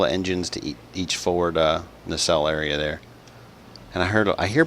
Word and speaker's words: nacelle: It's a nacelle, just like that, nacelle. I know it's phonetically spelled N-A-C-A, so you think that the first vowel would be long and the second vowel would be short, but that is not the way it is, believe it or not.